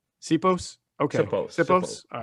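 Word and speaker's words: Siposs: It's pronounced Sipos. Sipos.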